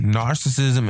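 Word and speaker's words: gnarcissism: look up joint narcissism narcissism is with a g in front of the N the g is silent I was you know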